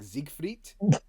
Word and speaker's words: Siegfried: the only game where the announcer pronounces his name in German like ziegfried every other time it's Zeke freed why is that only